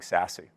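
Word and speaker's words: SASE: all of that is what we in the industry are calling sassy or secure access service edge the pronunciation of that is a little bit funny but this is actually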